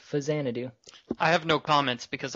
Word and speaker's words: Faxanadu: I've always pronounced it Faxanadu, but apparently, according to Wikipedia, it's Fazanadu.